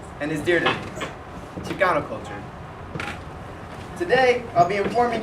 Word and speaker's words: Chicano: If you take out the M and the E in the word Mexicano, you get Chicano, which is the way it is pronounced in today's song. But in Nahuatl, the native language of the Aztecs, the letter X was pronounced as sh, giving you Chicano, and then eventually Chicano.